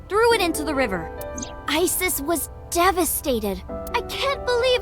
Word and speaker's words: Isis: horace's mom is named isis but in ancient egyptian it's pronounced closer to isa or hmm how do